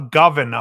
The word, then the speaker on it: Govan: was Guthrie Govan a governor however you say his name Guthrie was basically saying what's that it's govern like oven with a G oh okay so Guthrie